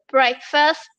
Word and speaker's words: breakfast: Breakfast. Ah, okay. You have to pronounce the S, okay?